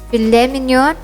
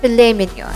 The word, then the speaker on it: filet mignon: usually say this but the correct way to pronounce it is either filet mignon or filet mignon the fat and liver